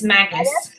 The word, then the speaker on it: Magus: monster in the ancient megas is it megas bride is that how you say it I've never mag it's Magus mag and the ancient magus right it sounds like